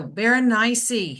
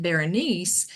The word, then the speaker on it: Berenice: do is great so but all right so Baron NY and there's I think many um different ways you can pronounce her name the the reason why I